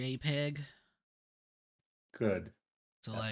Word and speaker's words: JPEG: It's not a Oh, that's JPG cool. background like the previous map. Never call it JPG again. It's a JPEG.